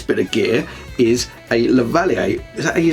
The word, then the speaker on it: lavalier: keema fun wireless microphone this looks good yes lavalier mic that's how you say it the valley